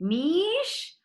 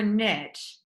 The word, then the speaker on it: niche: Niche or niche? Actually, no one cares. Both pronunciations are just fine, and getting hung up on stuff that doesn't matter isn't going to help you build a business.